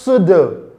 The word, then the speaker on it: pseudo: It is pronounced pseudo. Pseudo, not pseudo. Don't make that error. The p sound there is silent.